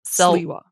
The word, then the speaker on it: Sliwa: Silwa. Someone corrected us on the Patreon. We were saying like S-I-L. It's S-L-I. Sliwa.